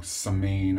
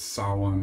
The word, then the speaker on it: Samhain: saawan I said well with the word wrong samane I've been saying it it's saw one is the right way to say it spelled funny don't ask me